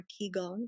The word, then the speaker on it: qigong: I actually found qigong or qigong, depending on how you want to Okay.